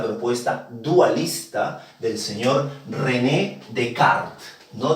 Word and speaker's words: Descartes: Estamos hablando del dualista, porque se le considera así a esta propuesta dualista del señor René Decart, no Descartes, se pronuncia Decart y aparezco Holly, no, no es Descartes, es Decart, René Decart.